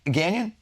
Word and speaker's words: Gagnon: What if we is it Gagnon? Yeah. How do you say it? I say gagnon just because we're in America. But Gagnon? gagnon is the French.